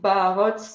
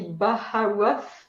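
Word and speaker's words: Baharroth: It's in French we just say Barot. In English it will be Baharoth, because you pronounce the H when we don't.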